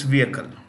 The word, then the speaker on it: vehicle: vehicle moving you know remember the H in vehicle is silent so it's vehicle so the adanis have